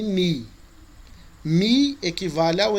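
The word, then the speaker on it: νι: É só a grafia lá que é o U do alemão, mas a pronúncia nossa sempre vai ser mi e ni.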